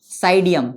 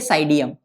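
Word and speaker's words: Psidium: का scientific name है साइडियम P silent होगा पी एस आई डी आई यू एम लेकिन हम बोलेंगे साइडियम पी साइलेंट होगा साइडियम गुवा जावा जी यू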